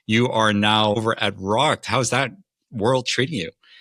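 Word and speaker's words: Rokt: Uh, Michael, I've rocked. That's probably the single most asked question here. It's pronounced rocked. Like, I drank too much and got rocked last night.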